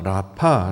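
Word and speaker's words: רפא: 그녀와 이것을 원어로 살펴보면 여호와 라파 라고 발음을 합니다 치료 하다 라고 번역한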